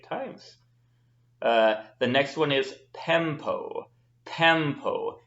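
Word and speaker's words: πέμπω: The next one is pempo. Pempo. Make sure you have that short E, pempo.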